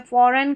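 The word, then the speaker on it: foreign: Sign डिज़ाइन यहां पर है फॉरेन कैंपेन तो लास्ट में देखिए जी एन आ रहा है।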